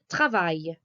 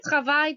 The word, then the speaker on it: travaille: So if you want to say I work in French, you say je travaille. That's je travaille with a silent E verb ending.